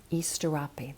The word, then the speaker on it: Asterope: We have the Pleiadian sister, Easterope, that's how we pronounce it.